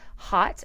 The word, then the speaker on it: Haute: has a podcast called hot as in like but it's spelled like hot Couture Hot Topics with Peter